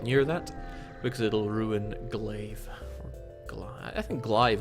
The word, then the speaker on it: glaive: uh destroy them with glaive it's pronounced like clay okay glaive thank you